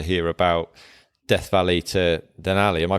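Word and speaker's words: Denali: really interested to hear about Death Valley to den Ali am I pronouncing that right yeah that's right yeah um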